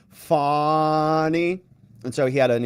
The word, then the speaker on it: Fani: first name you know we call her Fanny here I think the accurate pronunciation from her is fny and so he had